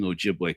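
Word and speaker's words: Ojibwe: as an adult man who grew up among Ojiway culture.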